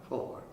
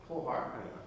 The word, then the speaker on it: Fullhardt: How do you pronounce it correctly? So they know. Fullhardt. Fullhardt.